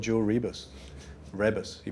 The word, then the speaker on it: Rebus: Rebus, he pronounces it.